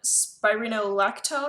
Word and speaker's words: Spironolactone: I'm not going to show you the bottle because it has my full name and everything on it, but I'm currently on Spironolactone, I believe is how you say it.